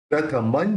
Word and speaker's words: प्रथमं: तम प्रथमन जिनेन्द्रम। अब यहाँ पे बिंदी है म के ऊपर, तो आगे ज है, तो ज बोलते समय दोनों होठ मिलेंगे नहीं, तो उस बिंदी का उच्चारण न निकले।